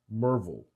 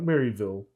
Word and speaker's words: Maryville: year in mervel Tennessee yes that's how they pronounce it merville not Maryville Marvel ask a local this annual rally may